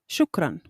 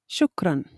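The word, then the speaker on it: شكرا: Shukran. Shukran. This word has the same pronunciation in both Shami and Fusha.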